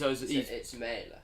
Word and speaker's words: Mæhle: Is it May? It's Mæhle, yeah.